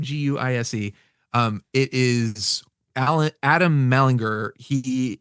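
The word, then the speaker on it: Guice: It's Superman #64, Dan Jurgens, and it is and Jackson Guise, I think is how you pronounce his name, Guise.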